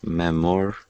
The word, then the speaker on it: memorial: Memorial, that's 3 syllables. The second one is the stressed one. You're right about the second one being the stressed one, but you're wrong about there being 3 syllables. Okay. Memorial. Okay, so there are 4. Yes, there are 4 syllables in memorial.